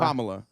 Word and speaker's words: Kamala: Is that how you pronounce it? Is it Kamala or Kamala? Kamala.